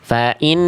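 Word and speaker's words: فَإِنَّ اللَّهَ: Jallaha itu pangkal lidahnya turun. Coba ya tegaskan lamnya. Jangan ee jangan tipis dulu.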